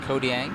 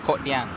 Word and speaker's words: Kang: it you know Denny it's not Kang it's kyang okay all right good